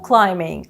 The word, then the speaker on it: climbing: Rope climbing – лазіння по канату. Зверніть увагу на слово climbing від дієслова to climb. Літера B не читається.